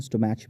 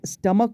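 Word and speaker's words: stomach: हम लोग काफ़ी इसको स्टोमक पढ़ते हैं, बहुत लोग तो स्टोमैच भी पढ़ देते हैं, बट स्टमक वर्ड जो होता है वो, इसका मतलब तो आपको पता ही होगा, पेट को कहा जाता है, ठीक है। Correct pronunciation स्टमक।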